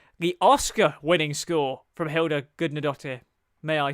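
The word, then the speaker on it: Hildur Guðnadóttir: And the score from Hilda Gudnadottir, finally know how to say her name, the Oscar-winning score from Hilda Gudnadottir, may I say, absolutely nailed it.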